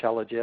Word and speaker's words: shilajit: I like shilajit. I asked my family, how would you pronounce this? And my 24-year-old son, who's still single, he said, oh, Dad, that's easy. You just think she's legit.